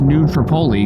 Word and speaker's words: New Tripoli: Africa is pronounced that way um is actually pronounced New Tripoli by all the residents so they they know